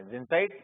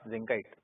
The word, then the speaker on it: zincite: हाँ जी बोलो, क्या पढ़ेंगे, जिंसाइट या जिंकाइट, बताओ भाई। हाँ, स्पेलिंग ठीक है, जैसे मर्जी तुम लोग, जिंकाइट, जिंसाइट, जो भी बोल लो, है ना।